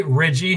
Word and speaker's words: Riggi: six months now I I say Reggie my family says Reggie but I answered everything